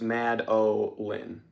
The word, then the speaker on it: Madeline: Also, Madeline is pronounced Mad-O-Lin.